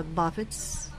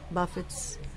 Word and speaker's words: buffets: long e sound beard say buffets buffets this is another verb so stress on the second syllable disputes okay um these